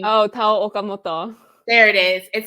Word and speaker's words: Tao Okamoto: And, I feel like you can help me pronounce this name. Oh, Tao Okamoto.